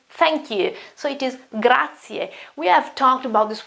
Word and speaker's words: grazie: new for you, but the pronunciation is grazie, grazie, grazie, grazie.